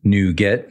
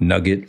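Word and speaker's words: NuGet: reuse code libraries now it's pronounced new get not nugget like chicken nugget and we actually need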